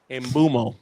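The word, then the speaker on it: Mbeumo: Mbuemo.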